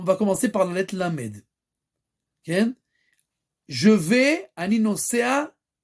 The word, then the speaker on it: ל: Maintenant, bien entendu, la lettre Lamed, sa prononciation c'est quoi? C'est Lamed.